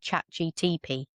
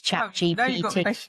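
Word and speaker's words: ChatGPT: I said chat GTP. It's chat GPT.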